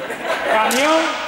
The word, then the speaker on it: camión: Camión tiene dos sílabas. Hay un diptongo.